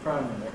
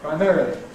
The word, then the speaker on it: primarily: ‘primarily’ , giving way to the new , or perhaps for some people, but anyhow stressed on the second syllable, becoming .